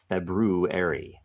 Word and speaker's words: February: February um and it make sure you pronounce with the r February there are two RS anybody know anything about